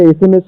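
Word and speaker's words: SMS: তোমাদেরকে ওয়ার্ড দিচ্ছি তোমরা বন্ধুরা নিশ্চয়ই একে অপরকে এসএমএস করো আজক এসএমএস যুগ এটা এসএমএস আমরা সবাই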